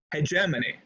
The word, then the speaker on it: hegemony: government hegemony and this word is said listen hegemony right hedge hegemony it's a very commonly mispronounced word so hegemony one definition is the